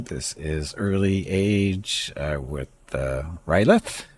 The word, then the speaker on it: R'lyeh: This is early age with Rylith. I think that's how you're supposed to pronounce that. I call it Ryloth, but that's because of the way it looks in my brain, or looks to my brain.